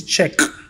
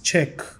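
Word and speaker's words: Czech: so difficult to learn pronouncing check word is a nightmare for English users English speakers people to pronounce the name she you know they spelled like c z e c h like I don't want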